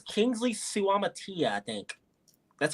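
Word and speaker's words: Suamataia: Oh, I think it's Kingsley Suamatia, I think. That's how you say it. You say like every single vowel. It's Suamatia.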